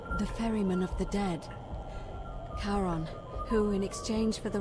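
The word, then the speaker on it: Charon: it's just as you described it only your pronunciation is a little off the name you heard wasn't Karen it was c-h-a-r-o-a as in Caron the ferryman of the Dead karon who in exchange for the right coin helps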